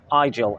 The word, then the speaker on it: Igel: is um called luxula eye gel so take the end off Nigel and look for one called lujula igel and it does quite